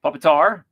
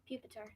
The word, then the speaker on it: Pupitar: How do you pronounce that? Buasel. Sure. It's almost like a weasel, but it's weasel. Okay. Puppetar. Pupitar.